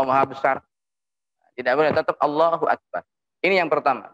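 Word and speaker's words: الله أكبر: ini yang ketiga penting tidak memanjangkan hamzahnya lafdzul jalalah tidak memanjangkan lafadz a-dha lam Allah itu deh langsung allahuakbar jangan mengucapkan Allohuakbar ini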